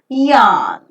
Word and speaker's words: yarn: Yarn. The J letter that you could find in the transcription is not exactly pronounced as J, it is pronounced as Y. So YARN is yarn.